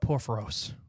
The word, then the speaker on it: Porphyrios: We're going to talk about Porphyrios.